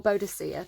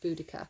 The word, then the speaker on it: Boudica: Romans pronounced C's as hard K's, so Romans would have said Boudica. So I don't know, maybe Bodicea is the British way of pronouncing it.